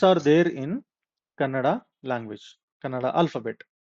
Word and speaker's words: Kannada: remember is while pronouncing Kannada, all the words in Kannada will end with full vowel. See, many times what happens, people say Kannad, right? It is not Kannad, it is Kannada.